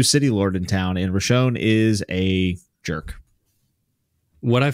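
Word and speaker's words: Roshone: people and then the new city Lord Lord Roshon Russia how do you say it yeah you got it man rashone shows up and he is not happy to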